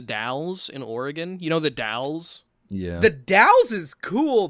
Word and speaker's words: The Dalles: in oregon you know the dalles yeah the taos is cool though any city that begins with the i know what well that's the thing but like what is a doll you know because like